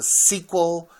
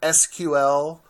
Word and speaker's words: SQL: the structured query language you hear this pronounced as a sequel or something like this or SQL it's used throughout the